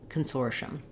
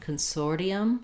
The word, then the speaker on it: consortium: e syllable that e sound and reduce the syllables to make it smoother and more fluent in Connected speech Consortium we can also say Consortium Consortium which in